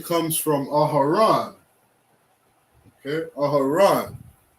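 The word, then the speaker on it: אהרן: We have ah, ha, ra, and a na, which in Hebrew we say Aharon. Okay? Aharon, which in English is Aaron.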